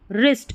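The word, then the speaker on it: wrist: डब्ल्यू आर को र पढ़ते हैं क्योंकि डब्ल्यू साइलेंट होता है। जैसे देखिए राइट रॉन्ग रिस्ट इसको रिस्ट पढ़ना है। राइस्ट नहीं पढ़ना है।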